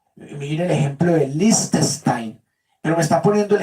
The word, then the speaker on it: Liechtenstein: de Liechtenstein.